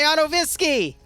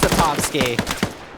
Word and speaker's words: Otovsky: Oh, except he gets sniped by Otovisky! Or is it Otovsky? It is Otovsky.